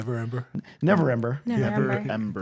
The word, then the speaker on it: Neverember: I always mispronounce that name. Neverember? Neverember.